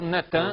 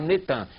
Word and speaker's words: Natan: No dia 4 de novembro de 2002, lança o nome do ex-primeiro-ministro de Al-Shorur de Israel, Natan, é Natan, eles já fizeram o sincretismo, botaram Netan, mas é Natan e Arro.